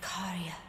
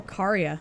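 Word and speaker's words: Caria: for a moment of the last queen of carya oh karya i've been saying it wrong whoa that's so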